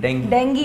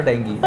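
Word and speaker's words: dengue: लेकिन कितने डेंगी नहीं, डेंगी डेंगी है। एक थी बहंगी, हाँ, उसको हो गया था डेंगी। ऐसे सिखाता था मैं स्टूडेंट्स को ना, ऐसे करता था कि देखो बहंगी तो डेंगी, ऐसे याद रखना उसकी प्रोनाउंसिएशन।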